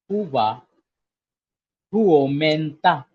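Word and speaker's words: Hyvää huomenta: So, good morning in Finnish is Huva, huomonta, Huva, huomenta.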